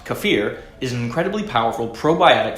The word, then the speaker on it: kefir: Kefir properly pronounced "kuh·feer" is an incredibly powerful